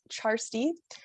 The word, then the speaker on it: Kjarstie: handles yeah so my tick tock is at charstee uh it's spelled k-a-r-s-t-i-e nobody else has the username so